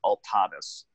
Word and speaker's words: Altadis: the name of our company is called ultinice USA or some people may pronounce an all Thomas still means the same thing and we are a